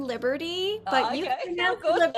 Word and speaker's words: Liberti: people um but i i pronounce my name liberty but you cannot go